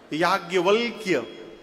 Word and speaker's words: याज्ञवल्क्य: शुद्ध लिखने जाइए यदि हिंदी में, तो य में आ की मात्रा या, ज्ञ, व, आधा ल, आधा क और य। शुद्ध उच्चारण करिए तो जिभ्ये टेढ़ हो जाएगी। याज्ञवल्क्य।